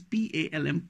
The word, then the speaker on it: palm: trifled I am being called by my son palm is PA LM palm drive our victory if figuratively speaking then